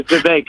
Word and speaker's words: Vivek: So actually, his name is Vivek, like cake.